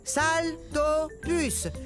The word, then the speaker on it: Saltopus: plus salut je suis un saltopus ça se prononce saltopus ce qui veut dire